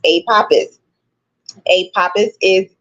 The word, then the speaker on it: Apophis: to pronounce a papus a papus is pronounced a papus Aus generally with an emphasis on the second syllable pa okay so what